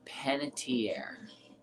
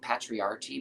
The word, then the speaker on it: Panettiere: painted here sometimes bugs new people don't know how to say her last name hayden panettiere i've heard it like patriarchy before and i'm like oh